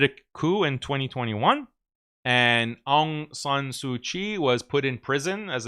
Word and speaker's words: Aung San Suu Kyi: And this was led by this Nobel Prize winning Burmese woman, Aung San Suu Kyi, I believe is how you pronounce her name.